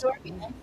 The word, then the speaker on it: Senghor Manns: I'm joined today with my special guest, Senghor Mans. Senghor, is that how you pronounce it? That is Okay, correct. Senghor Mans, the president and CEO of Lucas Metropolitan Housing Agency in Ohio.